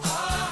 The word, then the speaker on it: our: There are two ways of pronouncing this word. One way is our. The other way is are.